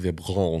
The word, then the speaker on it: Vibrance: by a brand called vibrants and I use the calm down it's pronounced vibron vbr vbr Vibrance patches